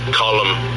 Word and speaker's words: Colm: It's pronounced Colm. It's not Colm.